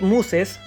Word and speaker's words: Muses: de control regido por este chip Muses. Bueno, así se pronuncia en español. Este chip Muses va a recibir esta